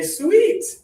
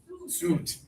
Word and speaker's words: suit: It is suit. Yeah, the letter U-I here makes the kissing sound.